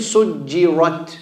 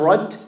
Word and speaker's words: سجرت: Be careful saying سجرت. Not rut. Rut. سجرت.